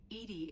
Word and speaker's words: EDI: are you named no edie is the phonetic pronunciation of edi that is an acronym